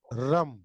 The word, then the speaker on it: रं: float करता है और इसका बीज मंत्र है रम र म रम म साइलेंट वैसे होता है मतलब मा लिखा नहीं जाता र के ऊपर बिंदी लगा देंगे तो रम जाएगा तीसरा हमारा चक्र है